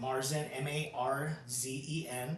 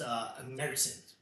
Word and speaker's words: Märzen: So originally, this style it's called Some people pronounce it Marzen, Marzen. And what is that? It's it's a style of beer, but it's pronounced Märzen.